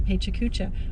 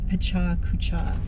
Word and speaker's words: Pecha Kucha: year when I did a paycheck Kucha I read it it's not really what you do for a paper to me a Pecha Kucha I'm going to say it properly um you know it's